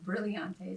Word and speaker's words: Brilliante: Well, today in the studio, we have Brilliante. Did I say it right? Yes, you did. I always like to emphasize like the brilliant, like you're so brilliant.